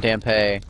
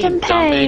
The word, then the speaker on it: Dampe: I say Dampe because I see it as sort of a reference to Dante.